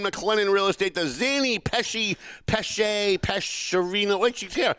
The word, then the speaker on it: Pesce: The Zany Peshy Pesarino. Wait, she's here. How do you say it? So, I say Pesh. The correct Italian pronunciation is Pesh. It means fish.